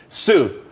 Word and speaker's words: Tsu: there's more money and everyone could be happy Sue TSU it's pronounced Su though that's that's a website.